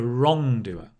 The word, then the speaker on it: wrongdoer: the law right a wrongdoer a law breaker a criminal just so practice these with me a criminal a wrongdoer get the stress on the first syllable a wrongdoer a law breaker yeah